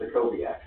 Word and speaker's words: Stakowiak: So the W is a V, so it's Stakowiak.